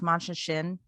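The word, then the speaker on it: Machin Shin: Yeah, it's called, I think it's pronounced Mancha Shin.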